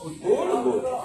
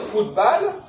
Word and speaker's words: football: On dit football, et on prononce ça à l'anglaise. Au lieu de dire football, on dit football.